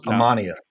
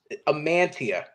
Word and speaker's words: Amantea: every time you three how do you think you pronounce my last name I right I thought it was ammania no no no I don't have a guess amantia amantia okay like I'm gonna do